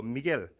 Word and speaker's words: Miguel: 제가 필리핀 가서 그 산 미구엘 달라 그러니까 그 사람들은 발음을 산 미겔 이래 발음하더라고요. 미구엘이 아니고 미겔.